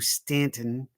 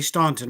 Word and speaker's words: Staunton: Go to the Shenandoah Valley and go to Stanton, Virginia. It is spelled Staunton. Don't say Staunton when you go into town. They'll know you're not from here.